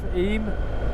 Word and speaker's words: Eyam: under my cafe towards the little village of eem or it looks like it's spelt e m e y am a lovely little